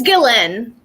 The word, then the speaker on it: Ghislaine: It's Ghislaine. Ghislaine. Which doesn't make sense because none of it's not phonetically sound.